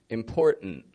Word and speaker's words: important: In all those words, they're all 2-syllable words. The first syllable is strong in them. The vowel's pronounced fully. Whereas in the second syllable, it's just kind of an n sound. And the T, which you would think T's like it's a consonant and it's supposed to be pronounced, again, fully, we don't pronounce it.